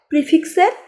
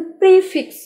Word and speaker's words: prefix: প্রিফিক্সের part. উচ্চারণটা কিন্তু প্রিফিক্স অর্থাৎ প্রেফিক্স না। কিন্তু প্রিফিক্স।